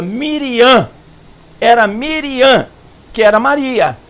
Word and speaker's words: Miriam: é não é Brian e o assento é na última sílaba Miriam era Miriam que era